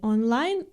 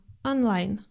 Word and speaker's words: онлайн: Вы знаете, что о без ударения произносится как а или как шва. Но в слове онлайн она нередко звучит как олайн или как что-то среднее между о и а онлайн.